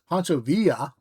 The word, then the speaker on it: Pancho Villa: Pancho Villa Villa, sorry. Pancho Villa, let's pronounce it semi-correct.